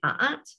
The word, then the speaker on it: a'at: The first word at the top here, written in hieroglyphs, was probably pronounced something like a'at, and seems to describe